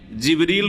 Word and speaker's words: জিবরিল: আর তিনি রূহ, তাহলে জিবরাইল আলাইহিস সালামের নাম কোরআনে কারিমে জিবরিল রয়েছে, যেটা অন্য উচ্চারণে জিবরাইল, অন্য কেরাতে জিবরাইলও, জিবরিল, জিবরাইল আর রূহ।